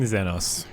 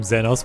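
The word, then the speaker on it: Zenos: I was calling him Xenos, but everyone's calling him Xenos, so apparently. Okay, that's the right pronunciation.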